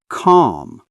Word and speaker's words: calm: L is silent. Walk. Talk. Calm.